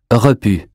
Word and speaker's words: repu: U as in hue. Repu. Vendu.